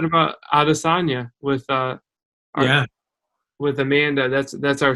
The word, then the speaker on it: Adesanya: I'm like, I thought it was Adesanya at the time. Obviously, it's Adesanya, but.